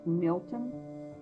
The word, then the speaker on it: Melton: Melton, which nowadays is pronounced Milton.